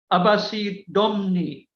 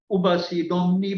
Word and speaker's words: Abbasi Domni: and she is called Abbasi Domni. This is a lady, she is called Abbasi, also it's written Ubasi Domni, but it must be pronounced Abbasi Domni.